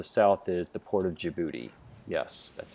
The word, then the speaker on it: Djibouti: down on the south is the port of Djibouti yes that's how it's spelled and that's how it's pronounced Djibouti right um there are strategic partner with the